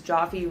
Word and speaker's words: Joffe: So Robin Joffe, who says Joffe rhymes with coffee.